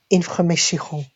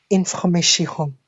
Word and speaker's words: information: It's information, information, information. You have to pay attention to the R, the R, information.